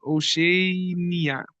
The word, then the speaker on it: Oceania: How do you pronounce this? Oceania.